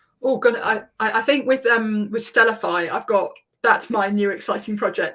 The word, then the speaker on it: Stellafai: name of our company, so it's Stellafai, but spelled with an AI at the end, so STE, can't spell, LLAFAI, and that's because we want to use AI, and that comes in